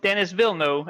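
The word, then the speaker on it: Denis Villeneuve: Dennis Wilno is how you say it according to internet.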